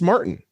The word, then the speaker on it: Martin: it and it's like it's martin like just because he might be latin doesn't mean martin suddenly becomes pronounced a different way yeah they always say like ricky martine and it's like that's martin that's jess martin it's just martin it's just martin so